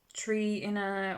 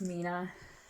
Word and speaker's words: 3INA: So a lot of people get the name wrong, call it Trina or Trina, or because you think it's a tree and people go tree in But anyway, it's pronounced Mina.